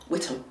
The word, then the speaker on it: Witham: You call her Whittam. Whittam. Oh my god, got her name wrong already.